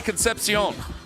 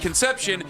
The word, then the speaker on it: Concepcion: Well, no, I was saying Concepcion correctly, and then somebody here is like, you're not saying it right, it's Conception. And then I said Conception, and people were like, no, Ken, you're saying it wrong.